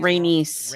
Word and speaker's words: Rhaenys: Later that afternoon, in the Red Keep's gardens, Viserys meets with Corlys and his wife, Princess Rhaenys Targaryen. How do you say her name? Am I saying it Rhaenys?